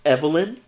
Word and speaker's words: Evil-Lyn: Allah I excuse me I believe you'll find that is pronounced Evelyn watch the old he-man